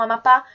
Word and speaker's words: Amapá: O mesmo acontece com Amapá e Urubu. E se vocês fizerem esse exercício de chamar, vocês vão ver que vocês vão se alongar no pá e no bu.